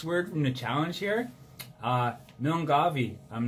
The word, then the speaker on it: Milngavie: But I'm pretty sure the pronunciation is sort of like this. When Mike Millen gets up, he gives his wife a kiss, so Millen gave his wife a kiss, eh?